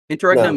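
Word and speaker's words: interregnum: is really interesting now internum or something I forgot how it's pronounced interum is the correct pronunciation of that word if if that's yes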